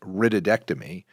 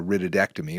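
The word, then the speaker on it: rhytidectomy: on another and the the proper term is ridom which uh is spelled rhy TI D which is a wred which means a wrinkle and a ectomy means it's being removed so a wrinkle removing procedure is really a ridtom which is a facelift now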